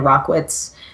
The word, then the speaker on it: Rachwitz: life stuff too but it's rock whatz and my last name is spelled RAC HW itz so doesn't actually look like how it sounds but that's how you